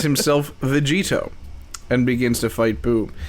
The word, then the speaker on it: Vegetto: It's actually spelled V-E-G-E-T-O. Vegetto. Vegetto. What? It's, in the ocean dub, That's weird. It's spelled Vegetto.